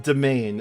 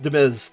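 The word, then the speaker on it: demesne: I was going to ask, Seb, why is it pronounced domain and spelled like that? I know it's French origin. But the first time I ever saw that word without context, I thought it was pronounced Demiz or Demins or something like that, right?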